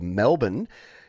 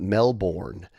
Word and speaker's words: Melbourne: to the city of Melbourne you have to pronounce it that way you can't can't pronounce it Melbourne because you'll instantly people will instantly know that you're a tourist and then the taxi